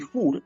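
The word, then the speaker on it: חור: la ge se nombre se pronuncia como una una una K fuerte o una J fuerte o jur jur significa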